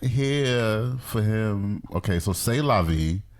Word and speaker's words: C'est la vie: for him okay so C'est La Vie is the way it's pronounced in French so shout out but